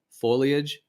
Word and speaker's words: foliage: before but yeah foliage I just never think of that word as like a faux sound that's the thing I think of it wor with the leage part I think of